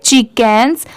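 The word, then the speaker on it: chickens: spelling याद रखनी है तो सी एच आई क्या होता है ची ठीक है और यहां पर जो लेटर सी है यह साइलेंट है के ई एन क्या होता है कैन अब कैन में एस लगा देंगे तो क्या हो जाएगा कैंस और ये जो लेटर साइलेंट है इसे छोड़ देंगे ये ची हो गया ये केंस हो गया अब जब इन दोनों को मिला देंगे तो क्या पढ़ेंगे चिक केंस ठीक है इसकी प्रोनंसिएशन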